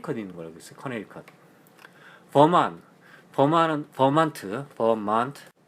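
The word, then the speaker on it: Vermont: 거어 커네 버만만은 버먼트 버만 원래 발음을 할 때는 버만 하거든요 트가 안 들어가더라고요 만 하는데만은 이제 유티만이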